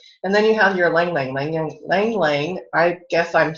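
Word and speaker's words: ylang-ylang: And then you have your lang lang.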